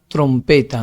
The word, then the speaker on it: trompeta: Acá hay un aviso importante, dice acá, "Podemos reconocer la sílaba tónica porque es donde se detiene cuando uno lo pronuncia, ¿no? Es cuando se detiene y es la que más dura al pronunciar. Ustedes cuando trompeta, se detiene, se alarga, no es más larga al pronunciarla.